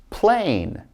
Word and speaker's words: plain: Long vowel I with a silent E. So listen to me as I say these. We've got plain, time, cape, hope, tube, bite, cute, and ripe. Never did I say the E because it's silent.